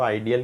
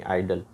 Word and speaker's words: idle: अच्छा, अक्सर लोग इसको आइडियल कह रहे होते हैं। आइडियल जो है वो अलग है, उसकी स्पेलिंग IDEAL है और इसकी IDLE है, यानी आइडल।